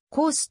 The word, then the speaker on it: KOST: 同局の名前はアメリカ合衆国西海岸に由来しコースとと発音されるが綴りはコールサインにのっとりコストであるコストのスタジオと